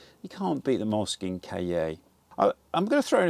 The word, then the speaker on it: cahier: I'm going to, the Moleskine Cahier. Cahier? Cahier. Cahier. People gave me pronunciation guides, so I'm going to try and do it for a minute because I want to learn it. Cahier.